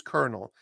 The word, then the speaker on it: colonel: is asking me Colonel it's pronounced as kernel like if you're in the military c o l o